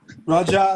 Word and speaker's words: Raja: Raja. Yeah, Raja, like a Rasta man, like a Jamaican. like a king. King. It means the king. Raja Oh, is it means king.